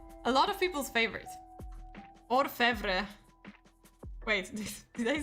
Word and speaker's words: Orfevre: Orfevre. Wait, did I say it right? Because I feel like I mixed up the letters. So let me check. Orfevre.